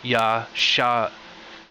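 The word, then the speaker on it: ישע: So you just do the Y for the Yod, and the Sh for the Sheen, and then the Ah for the Ayin. So Yasha.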